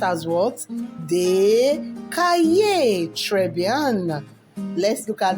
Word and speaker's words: des cahiers: Des cahiers.